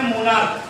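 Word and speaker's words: monarch: अब एग्जांपल बताओ, एग्जांपल दे, जैसे लिखा मैंने मोनार्क, क्या लिखा बेटा, मोनार्क, इसमें सिंपली अभी इसका प्रोनाउंसिएशन च नहीं है, अब क्या बेटा क, जब इसका क है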